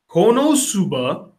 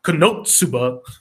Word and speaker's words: Konosuba: Otsumatsu, Season 2, Little Witch Academia, Konosuba, or as people love to make fun of me because I pronounced it wrong, Konotsuba, Gamers, and Surrey Children.